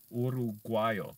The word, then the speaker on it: uruguayo: Uruguayo. See, and that's an easy one to mispronounce because I'm used to saying in English, Uruguay, like Uruguay.